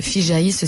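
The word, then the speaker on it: FIJAIS: Voilà, le FIGAIS, si on doit réellement le prononcer.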